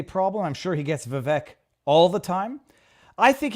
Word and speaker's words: Vivek: Maybe it's not Vivek. Yeah, maybe No, it is Vivek because I heard him do a rap and he said it rhymes with cake.